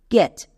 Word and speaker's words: catch: শব্দের শেষে যদি টিসিএইচ দেখতে পাই আমি একসঙ্গে চো বসিয়ে দেব। যেমন এক্সাম্পল দেখো, ক্যাচ। এবার এখানে দেখো শব্দের শেষে কি আছে? টিসিএইচ। এখানে টি এর জন্য চো হবে, টো কিন্তু হবে না, কারণ এক্ষুনি নিয়মে বলে আসলাম টিসিএইচ থাকলে চো বসাবো। টি এর জন্য চো এবং সিএইচ সাইলেন্ট।